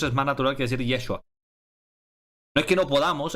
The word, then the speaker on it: Yeshua: Resucitando ahora en su tiempo, en Arameo se pronunciaba como Yeshua para abreviarlo, pero todo cambió cuando el Nuevo Testamento fue escrito en griego.